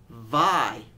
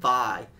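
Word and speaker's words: Vay: they or excuse me I got to pronounce this right VI even though it's it's spelled v a y it's actually VI I do not like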